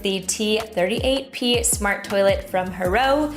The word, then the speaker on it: HOROW: So for Christmas this year, I decided to surprise him with the T38P smart toilet from Hero, pronounced like Huray, which feels fitting.